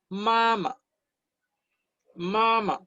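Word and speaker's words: 妈妈: Se pronuncia mama, mama, en primer tono.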